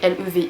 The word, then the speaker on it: Levi: Et parmi cet animé japonais, il y a un personnage qui s'appelle Levi, enfin Levi, ça s'écrit L-E-V-I.